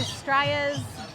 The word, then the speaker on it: Straya: So heading into Straya's bird sanctuary. Let's go check out the birds. Who's Straya? Yeah, like Australia, Straya. You just say it without the first syllable.